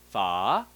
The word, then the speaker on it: Phở: voice for fer fer now combines those two together you lower in your voice first and rise in your voice Fah Fah Fah okay so that's it